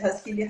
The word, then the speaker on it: Rasquilha: De onde veio Rasquilha? Eu estou pronunciando certo? Rasquilha, Rasquilha.